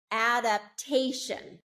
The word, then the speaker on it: adaptation: Adaptation, adaptation. Okay, do you hear that? And I'm purposely not telling you how it's spelled.